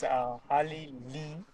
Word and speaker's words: Harleylee: My name's Harleylee, Kalma. It's Harley as Harley, then Lee as Lee.